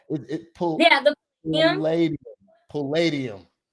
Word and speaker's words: Palladium: that how you say it it pulled yeah Palladium Palladium yeah um so that was really cool um